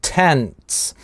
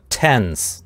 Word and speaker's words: tents: And tents, маленькая-маленькая пауза здесь есть на месте /t/ - tents. И этим вот это слово отличается от слова tense, "напряженный". Tense - tents.